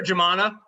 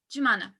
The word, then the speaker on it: Jumana: How would I pronounce it? Jumana.